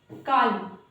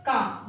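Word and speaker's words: calm: इनको ऐसे पढ़ोगे, पाल जो कि गलत है, काल जो कि गलत है, टॉल, वॉल, ये सब जो है गाइस ये इस तरह से प्रोनाउंशिएट करना गलत होता है।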